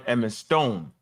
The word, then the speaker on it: Edmondstone: John Edmondstone. That's how you say it.